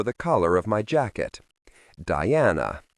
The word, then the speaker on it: Diana: Diana Yeizabo said it with a long e rather than an I and an emphasis on the first rather than the second syllable.